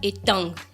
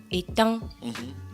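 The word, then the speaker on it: Eteng: Apprendre étang. E-T-E-N-G. Étang. On ne prononce pas donc le G.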